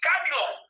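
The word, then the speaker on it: κάμιλος: E Camilon em grego quer dizer nó. Então, olha só como é que eu pronuncio. Camilon e Camelon.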